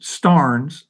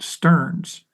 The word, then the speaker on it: Starnes: And she says you pronounce it Starnes, not Stearns.